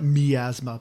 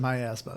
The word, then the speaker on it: miasma: called the miasma well in the game they call it miasma but I always pronouncing my asthma so me too asthma